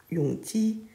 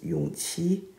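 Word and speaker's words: Yongji: in the tv drama they called the 12th prince yung which is wrong the correct way to read his name is yung chi which has the same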